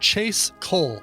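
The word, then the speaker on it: Chase Cohl: She's a singer named Chase Cole. Last name is spelled Cohl.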